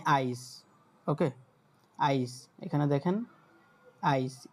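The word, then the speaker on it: Eis: Deutsch হচ্ছে এ ই, তখন এটার উচ্চারণ হবে আই, মানে আইস।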